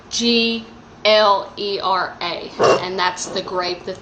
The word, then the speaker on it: Glera: This one is actually 85% Gilera, and I definitely did not pronounce that correctly, but it's Glera, and that's the grape that they use to make this Prosecco.